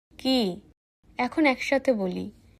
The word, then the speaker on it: け: এই অক্ষরের উচ্চারণ হবে কি? চলুন ধীরে বলি কি কি এখন একসাথে বলি কি